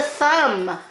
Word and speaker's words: thumb: baby triangle straight line this is a thumb there's your silent letters now come over here